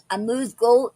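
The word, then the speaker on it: amuse-gueule: egg a pastry caviar or another delicacy and a moose goal is our word for today and that is spelled a-n-u-s-e hyphen Mark g-u-e-u-l-e okay okay now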